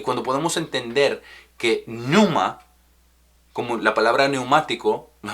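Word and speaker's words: πνεῦμα: espíritu es numa con pepe numa aunque se pronuncia numa y eso significa soplo aliento o aire y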